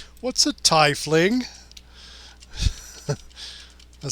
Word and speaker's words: tiefling: it's pronounced it's like one of them says tie Flings Thai are they throwing ties at people at Thai fling it's like no it's tiefling well that's what happens